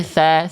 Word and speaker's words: ث: al mus tapi al mus tarik kali ini tsa tsa bukan sho sho.